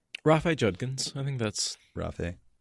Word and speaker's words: Rafe: Get on it, Rafe. Am I pronouncing that right? I should just say Judkins, because... Rafe Judkins. I think that's... Rafe. I think of it like Raphael, only shorter.